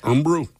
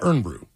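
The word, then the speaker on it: Irn-Bru: Oh, the Scottish one is iron brew and ern is pronounced kind of like ern. And they have great commercials. The guy says so. Earn brew. Uh, ern brew.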